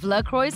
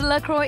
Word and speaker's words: LaCroix: The name is a combination of two important elements of LaCroix's original story.